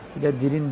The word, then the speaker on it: Slytherin: Slytherin diye okunur.